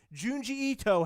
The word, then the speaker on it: Junji Ito: Junji Ito, Heather.